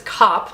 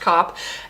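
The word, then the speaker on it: Kopp: a woman named Constance cop yes really it's felt K OPP but yes really it's pronounced cop and her two sisters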